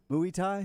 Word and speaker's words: Muay Thai: some of these um moaithi no idea why surfing we're doing that m-u-a-y thai maybe muay thai muay thai yeah it's fighting it's like